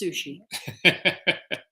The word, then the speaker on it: Suchet: urchill porto then there's david suchet in the long-running british you know tv series again a magnificent actor that's pronounced sushi so i i i